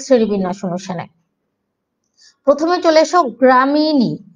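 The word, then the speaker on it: Gramineae: প্রথমে চলে এসো গ্রামিনী, এটা উচ্চারণটা দেখো, গ্রামিনী। এইভাবে তোমরা সিলেবল ভেঙে পড়বে, GRA গ্রাজ, MI, তারপর এই উচ্চারণটা হচ্ছে নি, NEAE, নি।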